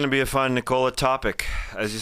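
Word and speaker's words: Topić: It's going to be a fun Nikola topic. As you said, he's Nikola Topic coming next year, but it's spelled t o p i c with the with the accent on the c.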